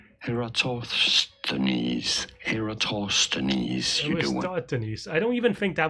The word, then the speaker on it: Eratosthenes: the other thing is the sieve of Denise. I always say it wrong. So let me. Denise. Okay, let's see. We are looking at how to pronounce this name as well as how to say more. Oh, jeez. Just tell me. Essentially a polymath. How do you say it? Eratosthenes.